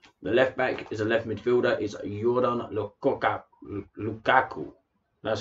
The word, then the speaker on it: Lukaku: The left back is a left midfielder, is Jordan Lukaku. That's how you pronounce it, not Lukaku.